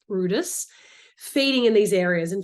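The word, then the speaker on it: Bryde's: the significance of Brutus whales or which is red Brides but actually pronounced Brutus feeding in these areas in fact it was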